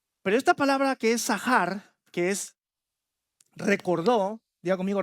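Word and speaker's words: זכר: Y esa palabra la pongo en rojo porque es viene de la palabra sacar que se pronuncia sahar.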